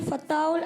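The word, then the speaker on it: الفتاح: अल क़हार, वहाबुर रज़ाकुल फत्ताहुल। माशाअल्लाह, तीनों नाम दुरुस्त सुनाए हैं। थोड़ा सा प्रोनाउंसिएशन दुरुस्त करेंगे। अल क़हारू, अल वहाबू, अल रज़ाकू, अल फत्ताहू।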